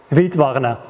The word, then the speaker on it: Wildwarner: Wild, like wild, and Warner, E-R, like warning, Wildwarner.